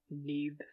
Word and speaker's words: Nudd: But I, I like to say it's, that "Nudd," for example, rhymes with "breathe," more or less.